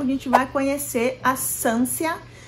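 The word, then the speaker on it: Sancia: gente vai conhecer a Sansia. Gente, eu vou chamar de Sansia, mas eu acredito que se pronuncie Sanchia, mas Sansia acabou o jeito que eu acabei lendo e grudou na minha memória, tá?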